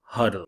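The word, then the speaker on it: HODL: that fear next definition pronounce huddle spelled h o dl hold on for dear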